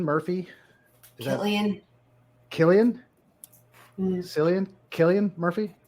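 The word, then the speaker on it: Cillian: is thatan Killian San Killian Murphy I'm pretty sure it's Killian start with the c so I don't know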